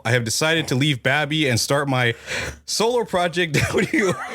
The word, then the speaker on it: BABii: And yeah, apparently it's pronounced Babby, not baby.